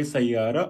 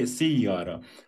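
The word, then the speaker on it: سيارة: So there are two ways to pronounce sayara. You can say sayara or you can say siyara. Both are accepted.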